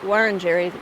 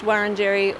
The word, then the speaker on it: Wurunjeri: This parkland is on Wurunjeri land. I've heard it pronounced Wurunjeri or Wurunjeri.